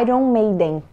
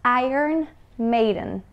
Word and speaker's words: Iron Maiden: de Iron Maiden agora em inglês nós falamos Iron Maiden Iron Maiden inclusive é uma associação na pronúncia é de I Earn né como se fosse eu recebo ir Earn irn made e ó o seguinte